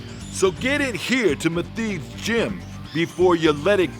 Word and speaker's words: Meathead: My name's Matheed, and this is Matheed's Gym. That's spelled M-E-A-T-H-E-A-D. That spells meathead. Would you call me? Cut! Hey, how you doing? I'm Meathead. Matheed.